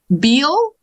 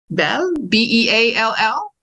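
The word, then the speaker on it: Beall: So, what about Beal? B-E-A-L-L? That's right. It looks like Beal, but you said it right.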